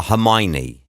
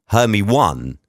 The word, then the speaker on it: Hermione: you if you are Hermione how on earth is your name Hermione's her me one if you spell it out her me one how's that Hermione or if your name